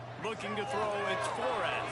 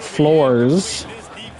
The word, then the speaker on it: Flores: Flores. It's actually pronounced floors.